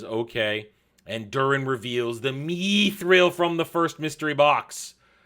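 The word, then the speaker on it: Mithril: something and then elrond says no it's it's me thrill we we pronounce it me through L Ron named me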